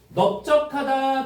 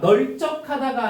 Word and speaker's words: 넓적하다: 자, 널적하다가 아니고 넓적.